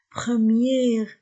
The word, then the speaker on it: première: Premier, premier, première. Faites attention à la prononciation. Premier, masculin, première, féminin. Première, j'ai prononcé R. Premier, je ne prononce pas R.